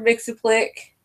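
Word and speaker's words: Mxyzptlk: might mister makes a click I recently just found out how learn how to pronounce his name but it's mr. mixon flick that mr.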